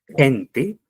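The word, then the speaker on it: q'inti: Pero la vocal I, como en el caso del vocábulo gente, que significa picaflor, vamos a escribirlo así como está con I. Gente, pero se ha de pronunciar como una E.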